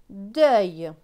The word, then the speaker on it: deuil: D avec E-U-I-L. E-U-I-L se prononce œil. Donc D et œil, deuil.